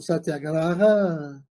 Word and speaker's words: Satyagraha: Mas a gente é portuguesa como Satyagraha, até porque ficaria um pouco pedante a gente manter a pronúncia em sânscrito nesses casos, onde o termo já vai se tornando conhecido para os falantes da língua portuguesa.